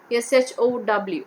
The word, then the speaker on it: show: Show, S-H-O-W, W is silent.